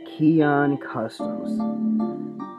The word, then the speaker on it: Kiaun Customs: Kiaun Customs. Now, that is exactly how you pronounce the company name.